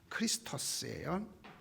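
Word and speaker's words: Χριστός: 그게 히브리어로는 메시아인데 그리스어로 헬라어로 번역하면 크리스토스예요. 크도 아니고 흐 발음이네.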